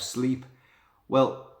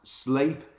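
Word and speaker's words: Sleap: and it's called it's RAF sleep well it's actually pronounced slape but again in the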